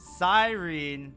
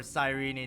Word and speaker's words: Cyrene: saw her in trailer, Sirene or Sirene, depending on how you want to say her name, she is finally in banners and she has mocked her arrival with these flower petals.